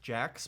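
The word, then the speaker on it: Jachs: really good company called I think it's Jax but it's spelled weird J ACHS they had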